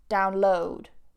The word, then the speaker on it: download: Again, download. download. It's on that second syllable. And to upload, upload, upload on that second syllable. If you put the stress on the first syllable, download, upload, then it becomes the noun.